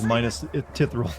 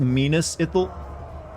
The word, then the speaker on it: Minas Ithil: I guess he went in there and tried to correct him on how to pronounce Minas Ithil or something. It's actually pronounced Minas Ithil.